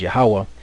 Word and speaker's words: Yahweh: It says the Greek, which comes from the old Hebrew Yahu, and the Samaritan, whatever that is, which comes from the Aramaic Yah, are not the pronunciations of the only name, which is the Tetragrammaton here, which is Yahweh.